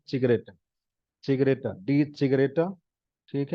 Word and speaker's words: Zigarette: नाउ rauchen, so er rauchte jeden Tag 5 Zigaretten, Zigaretta, die Zigaretta, ठीक है। यहाँ तक सिंगुलर, एन लगा दिया तो प्लूरल, ठीक है। दी सिगरेटा, प्रोनाउंसिएशन इज विद स वत्सला वाला, ठीक है, शुरू में बताया था मैंने।